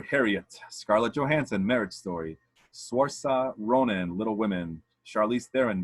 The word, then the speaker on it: Saoirse: The Irish one, Saoirse Ronan, like a nurse.